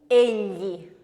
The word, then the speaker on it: egli: to English speakers, and it occurs when you have the G-L-I combination of letters, and we end up with a pre-palatal voiced lateral, and that is L, L. Example of that? egli, Egli. So we end up li. Can you feel how your tongue is right up against the ridge at the back of your teeth?